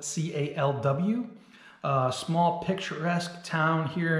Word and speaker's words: Calw: Calw here with Tearing Up the Miles. This video is of a solo trip that I took to Calw, that's spelled C-A-L-W, a small picturesque town here in Germany that